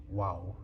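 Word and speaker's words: واو: I'm not saying wow I said I'm doing a good job, but the letter actually called waw. Which is the wa sound.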